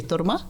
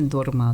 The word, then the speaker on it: Торма: По-тибетски Торма? По-тибетски Торма. В калмыцком произношении Дорма, да?